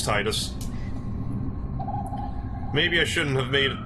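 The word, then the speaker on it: Tidus: to change like Titus the guy who voiced Titus is like it's tedious but I'm like nope it's Titus maybe I shouldn't have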